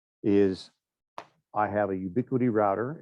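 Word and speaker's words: Ubiquiti: is um is i have a ubiquity router it's an edge router here it's kind of like the linuxes router we looked at it's got a lot more feature sets to it um and the ubiquity equipment it's spelled funny it's ub-q-u-i-t-i is dirt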